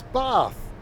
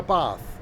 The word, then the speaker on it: Bath: There's no R. It's Bath. You have a bath. Don't have a bath. It's Doncaster. B-A-T-H. Bath. Yeah. Not my fault you say it wrong.